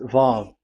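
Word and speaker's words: ו: So the word, the shape Vav is really pronounced V, like Vogue. That is it, pronunciation. So here in this side, it's pronunciation. This is pronunciation. So according to the old Hebrew word today, those who, the owner of the words, I mean, so it's a V. So don't change it into W.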